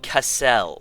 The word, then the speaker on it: Castle: of 3 things with Castle. One would be his name, which, given that he's from California, could technically be pronounced Cassell.